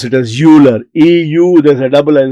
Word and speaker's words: Euler: greatest mathematicians of this millennium, the last millennium, Euler. Some people pronounce it as Euler.